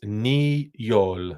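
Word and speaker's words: Niyol: this name neol okay that's niol like they're two separate words ni Yol neol okay so neol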